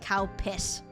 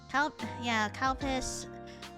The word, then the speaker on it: Calpis: Which I think is pretty funny because if you pronounce it wrong, it's like cow piss. So I'm just like, I don't know how I'm going to call you by another name, but yeah, Calpis, as in it's spelled like this. Not cow piss, but let me see.